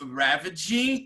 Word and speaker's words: ravaging: Ele fala assim que a praga bubônica was ravaging Europe, né? Ravaging, né? A sílaba tônica é a primeira, né?